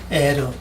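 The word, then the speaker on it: ער: 이 엘이라고는 단어 다른 데서 주로 엘을 발음 많이 해요. 우리 성경에 보면 이것은 엘, 이렇게 다른 데 가보면 에르 원래는 이 에르입니다. 히브리어로 발음할 때는 에르인데 이것은 엘 됐습니다. 다른 성경에서는 거의가 다 에르 이렇게 발음을 했습니다.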